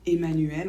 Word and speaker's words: Emmanuel: devant la lettre M cela dit on prononce pas toujours en quand c'est suivi par un deuxième m par exemple le mot femme ou mental ou le prénom Emmanuel encore on ne prononce